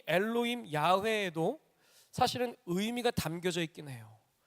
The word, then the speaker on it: 야훼: 또 하나가 여호와 원문의 발음으로는 야훼 이렇게 표현을 해요.